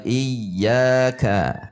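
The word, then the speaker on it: إِيَّاكَ: Hati-hati, rata saja. Iyyaka na'budu wa iyyaka, tidak ka.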